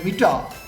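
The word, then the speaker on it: metre: হবে computer computer বা আর যদি ওয়ার্ডের ভেতরে থাকে কোন শব্দের ভেতরে থাকে বা শেষে থাকে তাহলে সেটাও উচ্চারণ হবে না এটা মিটা মিটা এম ই টি আ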